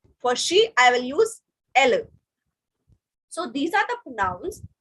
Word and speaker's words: elles: the last in French, whenever S is coming at the last in French, we don't pronounce it. So that's why ILS is illa and ELLES is elle, because S is not pronounced.